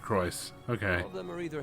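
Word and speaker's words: Crois: and speaker McDowell okay so they pronounce it Christ okay of them are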